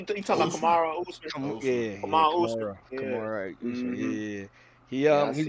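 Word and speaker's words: Kamaru Usman: How to pronounce the name? Camiro Usman. Usman. You talking about Kamara Usman? Yeah, Kamara Usman.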